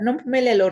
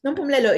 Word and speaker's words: Nomlo: to say my name they always butcher my name but numelo really nomlo in my own language it means mother of all success.